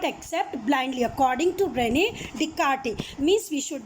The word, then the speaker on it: Descartes: First one is coming René Descartes. S is silent.